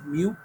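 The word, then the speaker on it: μ: Pero su pronunciación es mu.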